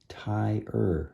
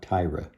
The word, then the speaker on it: tire: the the American spelling t-i-r-e tai ER it's ER even though it's re it's not Tyra so this is ogre's